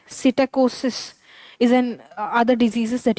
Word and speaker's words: psittacosis: अच्छा, but Pompe disease and now P is silent. Psittacosis is an other diseases that you want to know of.